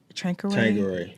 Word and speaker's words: Tanqueray: Tanqueray.